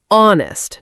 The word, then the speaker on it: honest: So in honest we don't pronounce the h. Exactly. We say honest not honest.